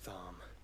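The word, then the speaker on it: Tharmr: Barnabas Tharm. With a silent R, thinking he's so cool.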